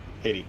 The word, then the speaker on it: Haiti: Is that how you pronounce it? He hati Haiti.